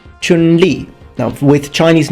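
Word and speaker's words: Chun-Li: name will be pronounced Chun Li Chun Li now with Chinese names please try to imitate my pitches because Chinese is a tonal language Chun means spring and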